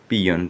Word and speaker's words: PEON: ठीक, उसके बाद क्या लिखा है, PEON, इसे हम लोग क्या पढ़ते हैं, पियन। आपको पहले ही बता चुके हैं, PEON को क्या पढ़ते हैं, पियन।